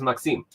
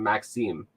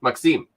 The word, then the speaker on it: Maxime: Although I have a buddy, his name is Maxime. That's how you're supposed to pronounce it. I just kept calling him Maxime. But no, it's Maxime. You have to, like, go up.